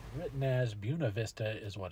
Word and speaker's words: Buena Vista: the Buena Vista is what it's written as Buena Vista is what it's pronounced as if you get a chance to